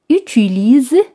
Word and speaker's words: utilisent: Les gens utilisent, como veis, o ente no se pronuncian.